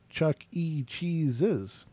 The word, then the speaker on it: Chuck E. Cheese's: So they're saying it's Chuck E. Cheese's, not Chuck E. Cheese. Right. Chuck E. Cheese was what people believed it was, but there's actually an apostrophe S.